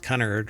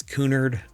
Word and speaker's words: Cunard: I don't think it's pronounced Cunard, right? It's Cunard.